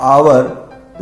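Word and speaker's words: hour: इसमें add silent है इसके अंदर साइलेंट है इसका प्रनंसीएशन हो रहा है आवर इसके ठीक पहले हम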